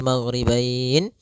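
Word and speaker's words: المغربين: Maka kita boleh membacanya maghribain dua harakat. Magribain empat harakat. Magribain en harakat.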